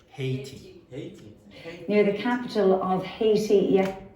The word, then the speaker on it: Haiti: How do you pronounce that? Haiti. So in English you would say Haiti.